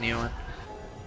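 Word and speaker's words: Nguyen: I think it's pronounced Newen. Pretty sure it's pronounced Newen. I get confused because there's a G in there.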